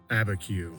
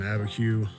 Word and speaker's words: Abiquiu: Gonna head to the town of Chamayo, and then from there, I will travel west to Abiquiu. I believe that's how it's pronounced. Over in Abiquiu, I'll catch some different scenery from what it's like here where I am.